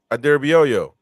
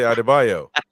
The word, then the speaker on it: Adarabioyo: Adarabioyo. You guys say Adebayo. Adarabioyo. He doesn't want the yo-yo.